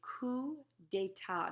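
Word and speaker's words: coup d'état: and a group of LED what's called a coup data notice how I said that's a French CP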